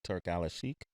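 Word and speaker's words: Turki Alalshikh: the scene and let me say it correctly, Turk Alashik.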